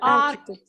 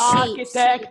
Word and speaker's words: architect: Yeah, Or architect. yes, this is another case, okay? We may pronounce them as K, okay? Like Or she. architect, like mechanic, like technology, anyway.